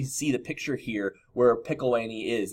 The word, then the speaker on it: Pickawillany: The British traders actually had the same idea, and they built the settlement of Pickawillany, is how you say it, in present-day Ohio in 1748.